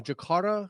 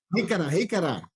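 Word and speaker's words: jícara: A jacara? Is that how you say it? Jicara. Jicara. Jicara.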